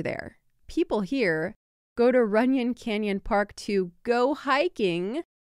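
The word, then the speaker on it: Runyon: you who do care ran is spelled Ru n y n and that's runan Canyon Park if you want to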